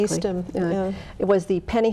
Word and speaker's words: Eastham: And the only thing that I could find was in Eastham, I have to pronounce that correctly. Eastham, yeah.